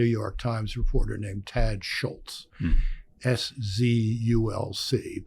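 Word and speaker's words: Szulc: Times Reporter named Tad Schultz szul LC pronounced Schultz it was a Polish name and I was when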